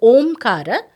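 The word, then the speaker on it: ॐ: it is always so om is a combination of three letters but while chanting them together we have to pronounce it as Om and that's what shastra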